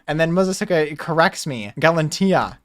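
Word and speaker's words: Galatea: Galantia. I said it wrong. I said Galati, and it's Galantia.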